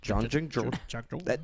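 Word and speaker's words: Jahangir: Okay, it's that Janjig. That's how it's pronounced.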